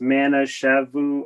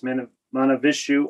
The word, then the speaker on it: Mahavishnu: Then Brian says, if you like Weatherport, then give, I hope I don't mispronounce this, Mana Shavu Orchestra. Oh, Mahavishnu. Mahavishnu? Okay, Yeah. I apologize. Mahavishnu Orchestra.